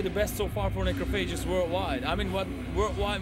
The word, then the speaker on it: Necrophagist: So if you want to pronounce it correct, it's like Necrophages.